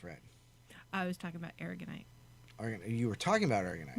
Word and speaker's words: aragonite: It's aragonite. Aragonite. It's A, not E, A.